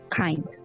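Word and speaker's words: Cains: to you soul is that he just says kinds no last name since you already know about the Grove pain but with an s c-a-i-n-s Bible team yeah like like uh came from the Bible it's pronounced kinds uh you would know this Soul now since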